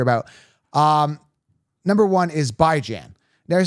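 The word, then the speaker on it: Bijan: as in Ran raan as in tan tan by Jan everyone's mispronouncing it as completely rude I don't see the word be do you guys see bjan where's Jean Jean is it J is it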